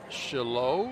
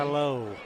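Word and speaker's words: Chaillaux: I I think it's Shalo. I'm not exactly sure how to pronounce his last name. Shalo. C H A I L L A U X.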